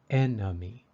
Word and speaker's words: enemy: sound these number three the second e in enemy is a little different it sounds like a short u or uh enemy enemy enemy the symbol